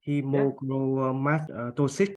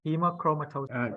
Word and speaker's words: hemochromatosis: Hemochromatosis. Good. So not cis, it's cis, it's S-I-S, no C-H. So but you got it half, you got most of it right. Hemochromatosis.